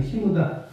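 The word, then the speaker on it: 下田: 시무다. 그 아래 한자에다가 밭전자 쓰는데 발음은 시무다라고 하는데 그 항구에 흑선 모형이 있고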